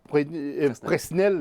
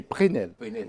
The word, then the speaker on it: Presnel: Alors, on ne prononce pas Presnel, mais Prenel.